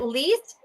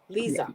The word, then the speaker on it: Lisa: And is it Lise or It's Lisa? Lisa. Yeah, That's how you pronounce it.